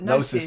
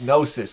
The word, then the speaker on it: Gnosis: it said isn't it I just put nois nosis of course it's a silent G actually as he said that immediately went on my head it's I've I've heard that before it's no nosis it's a silent G isn't it of course it is nosis the eighth studio